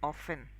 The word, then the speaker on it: often: But if you ask me the actual pronunciation of that word is often. The T is silent.